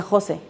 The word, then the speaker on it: José: María siempre lleva acento, el José siempre lleva acento, eh, porque luego se pronuncia José, ¿no?